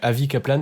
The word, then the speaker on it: Avi Kaplan: Et de toute façon, ouais, Avi Kaplan, c'est vraiment comme ça se prononce, AVI KAPLAN.